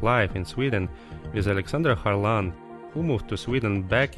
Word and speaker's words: Kharlan: uh sweden yeah so my name is alexandra harlan um carlon as they pronounce it in sweden i'm 37 years old